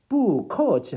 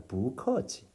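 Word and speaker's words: 不客气: 뿌커치 하면은 좀 불편해요. 뿌커 불편합니다. 그래서 이 앞에 이 뿌라는 사성 글자를 부하고 이성으로 바꿔서 발음한다. 부커치, 부커치.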